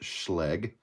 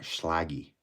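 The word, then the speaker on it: Schlage: Funny story, they're pronounced schlleg and not schlaggy.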